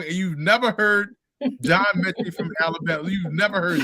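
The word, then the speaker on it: Metchie: I forgot how he butchered his last name, but it was like he said, and the guy Cardi said, "Oh, it's Mechie," and I'm like, man, so have you never heard John Mechie before?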